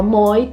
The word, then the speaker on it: moi: original de séculos atrás as palavras terminadas com Oi não eram pronunciadas como o a eram pronunciadas como Oi então você não falava mua tua você falava moi Toi etc e tal mas a